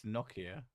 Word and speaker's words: Nokia: In America, we do say Nokia with a long O. I've heard Nokia, but it's not. It's Nokia. That's what it's. I'm pretty sure that's like the pronunciation.